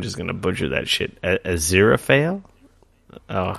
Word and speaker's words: Aziraphale: Aziraphale? Oh, Aziraphale.